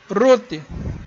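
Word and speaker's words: רות: Agora, a palavra aqui, o nome próprio de Ruth, Resh, Vav, Tav. Ruth. Então você tem o som de O, segundo, o som de U.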